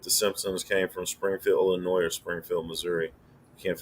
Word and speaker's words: Illinois: coventry said it's illinois pronounce illinois we leave out the ios or just the s there's a springfield in